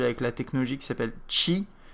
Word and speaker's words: Qi: la technologie qui s'appelle chi qui s'appelle chim ça s'appelle ch et ça s'écrit QI en fait c'est une